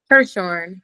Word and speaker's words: Hirshorn: Hershorn.